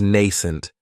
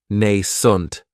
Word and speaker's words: nascent: Another great adjective is nascent, and this word has 2 syllables, and the stress is on that first syllable. It has the long A sound, nascent. That second syllable has that schwa, nascent.